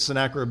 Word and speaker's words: Sennacherib: He is a Assyrian king, and again, none of us can claim to have pure pronunciations, but Sennacherib is the way I have heard it, and it'll work. So, close enough.